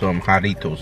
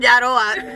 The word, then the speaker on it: Jarritos: He didn't know how to pronounce it. He said something completely He said jarroa. No, wait, yeah. What did you say? Jarita, yeah. Like, jarroa is a type of food.